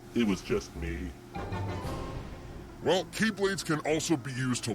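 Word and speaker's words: χ-blade: yeah means the x-blade it's just pronounced like keyblade even though it's just one key blade oh the series is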